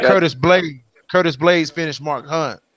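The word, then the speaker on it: Blaydes: If you just beat Derek Lewis, you don't expect to lose to Blaynes. You know what I mean? Is it Blaynes or Blake? Huh? I think I pronounced this completely wrong.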